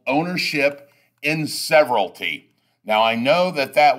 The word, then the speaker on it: severalty: owner owns the property in what is called severalty and it's pronounced that way when we're in class I usually make people pronounce it pronounce the word several T several T that's how it's pronounced so you